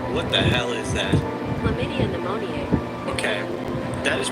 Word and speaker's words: Chlamydia pneumoniae: Chlamydia pneumoniae. Okay, that is pronounced chlamydia pneumoniae.